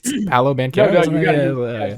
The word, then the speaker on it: Paolo Banchero: Good pronunciation there, Connor. By the way. Well done. Isn't that how it's Paolo Banchero? You nailed it.